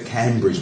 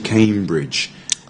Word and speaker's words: Cambridge: on the bridge here but you say Cambridge but it's not as you came Bridge even though there's no e there to make it long they just say Cambridge Cambridge Cambridge Cambridge not Cambridge yeah Cambridge okay Cambridge